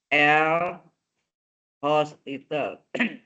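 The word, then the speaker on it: L'Hôpital: hingga ini menggunakan dalil L hospital. hospital. Nggak pakai S ya. Utopi, dibacanya host. Kalau pakai S rumah sakit.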